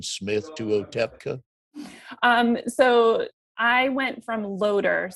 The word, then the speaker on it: Otepka: Yeah, it's that TP combination that really throws people. Otepka.